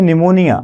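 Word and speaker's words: pneumonia: हम बात करते हैं निमोनिया आपने कहता है हमको निमोनिया हो गई है तो निमोनिया की स्पेलिंग एन से नहीं स्टार्ट होती है उसकी स्पेलिंग पीस स्टार्ट होती है जो सही स्पेलिंग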